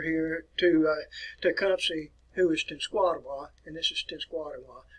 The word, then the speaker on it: Tenskwatawa: And you hear this pronounced several different ways. But listen to it, look at the word as they pronounce it, Tenskwatawa.